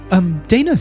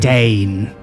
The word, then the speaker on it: Daina: And we'll, Daina's here. Lovely. I can't wait no, to see I'm her. Dane. Dane. Oh, well, I think it's pronounced Daina.